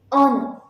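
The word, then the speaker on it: honour: ஆனர் ஆனர் அப்படிங்கிறதும் vowel சவுண்டில் start ஆகும். Because H is silent. So தி ஆனர் அப்படின்னா சொல்லணும்.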